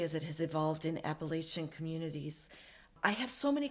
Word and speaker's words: Appalachian: And my grandmother, always would say it like Appalachian. So you have to got that ch.